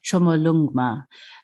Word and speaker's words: Chomolungma: local name so well Tibetans call her and um this is my pronunciation which I hope I get right chomolungma um so it means